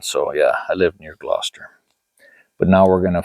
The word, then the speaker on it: Gloucester: in the series called The Tailor of Gloucester. That's how you say it, or that's how you kind of should say it.